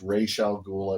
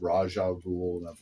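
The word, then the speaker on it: Ra's al Ghul: Justice the justice system keep in mind our two ways to pronounce one's rash Abdul's name I mean myself yeah you've lost it give my Russia I don't know because um I've heard it pronounced racial ghoul I've heard it pronounced Raja rule you know in the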